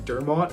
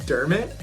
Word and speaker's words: Dermot: him I also think last video was calling him Dermot which I've since learned it's now pronounced derit even though I claim to be one of his number one fans and I was pronouncing his name all wrong but right now I'm